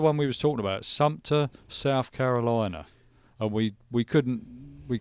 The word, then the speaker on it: Sumter: Sumner. Oh, this is news to me. Sumter. Yeah. I can't pronounce it.